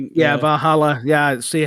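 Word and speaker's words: Valhalla: some Viking name Van Val. Vajala, I think. Yeah, Vajala. Yeah, see how I didn't pronunciate it correctly.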